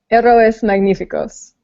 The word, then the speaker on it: Héroes Magníficos: Sarah said it right, but she's muted right now. Here, say it again, Sarah. Héroes Magníficos.